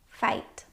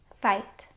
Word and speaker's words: fight: There are lots of words that have this IGH pattern in them, and they all make a long I sound.